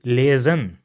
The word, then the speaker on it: lesen: Another word where S comes in the middle is lesen. So you see over here again, we pronounce the S as a Z in English.